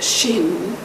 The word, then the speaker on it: Shin: The two Hebrew letters SH and M, pronounced Shin and Mem, which together form the Hebrew word